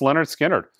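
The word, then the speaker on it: Lynyrd Skynyrd: But yeah, pronounced Leonard Skinner, 45 RPM, unbelievably dynamite record.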